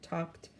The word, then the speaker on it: talked: there's e d ending i wonder what it's going to sound like let's think um talking no that doesn't sound right talked talked oh just like walked was walked this is talked let me write it